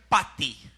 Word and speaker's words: pati: de latín si que se podría simplemente pronunciar Pati pa si p a t i y latina Pati Qué